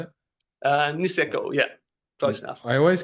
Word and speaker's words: Niseko: of experience working in Japan at Nozawa and Nisakawa. Is that how you say it? Niseko, yeah, close enough.